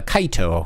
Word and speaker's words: Kaito: They say, like, kite, like Japanese pronunciation, instead of kite being an American. Yeah, it should be like kite. Like, you fly a kite. It's kaito would actually be the proper Japanese way of saying it.